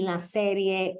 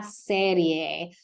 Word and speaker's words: serie: a conversation on el día de playa y la serie quarterback. And I would actually like to start right here with the word la serie, one of my most commonly corrected words as